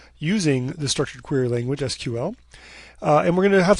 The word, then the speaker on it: SQL: tell you about the structured query language or sql or as many people who are not me pronounce it sql and how you can use this language to